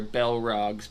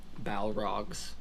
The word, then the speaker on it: Balrog: darkness and evil things and there is where bellrocks became bellrocks and balrogs i think is how it's technically pronounced doesn't matter and dragons became dragons and